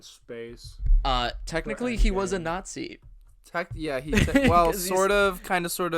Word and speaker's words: Nazi: We hate I- Nazis. If you didn't figure that out already. Let me. Are you having let me trouble be the first to say pronouncing Nazi? It's not Z. Nazi. Nazi.